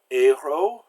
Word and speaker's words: héros: So we have words like héros and furieux and objet. We've got two silent letters there. So the final consonants are usually silent if the word ends in a consonant.